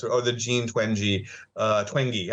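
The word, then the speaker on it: Twenge: the gene twangy uh twangy okay that's how you pronounce it yeah uh theory of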